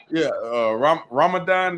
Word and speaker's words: Ramadan: Ramadan, did I say it right?